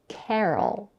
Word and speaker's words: Carol: the female name Carol it has two syllables and the first syllable is stressed Carol we start with the